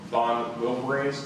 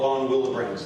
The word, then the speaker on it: von Willebrand: chloe chandler suffered from von wilberan's disease is that correct it's called von willebrand's disease okay yeah is that correct that's how you pronounce it yes okay and